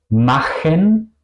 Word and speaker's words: machen: Por ejemplo, en machen, kochen. ¿Ok? Aquí suena el sonido de CH como la J española.